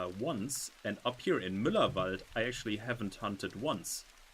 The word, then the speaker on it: Müllerwald: The trick is just pronounce it exactly the way that it's written. Mm-hmm. There are no silent letters in there, no silent vowels, nothing. It's just exactly as it is written.